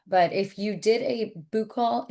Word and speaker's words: buccal: But if you did a buccal, is that how you say it? Buccal? Buckle, buckle.